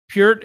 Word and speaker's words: Peart: Pert is, see, this is what I didn't want to happen. And I pronounced Neil Peart wrong. Mike Portnoy. Peart is the greatest of all time.